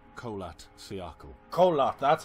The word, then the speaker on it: Kholat: Kholat, that's how you say it.